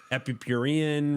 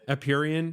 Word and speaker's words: Empyrean: number of projects on Art Blocks, Epicurean, right? Is that how you pronounce it? Empyrean. Yeah. See, Empyrean.